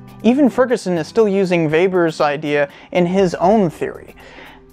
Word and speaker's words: Weber: This whole idea originates with Max Weber, and yes, it's pronounced Weber, and he tried to figure out where capitalism comes from.